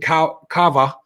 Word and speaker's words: Kawaa: So Jimmy, we talked about it yesterday uh that Taden Ka Cava could be committing. And yes, it is spelled with a W, not a V, but it's pronounced V, not W.